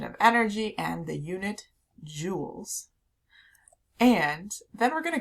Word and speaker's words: joule: measured in joules and this is said joules it's spelled a little bit differently than the sparkly jewels that you might have in jewelry but it is said joules and it's the